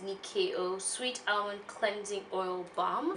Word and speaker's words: Nyakio: so this is the Nikkei oh it's felt and why Aki oh but it's pronounced Nicki oh sweet our cleansing oil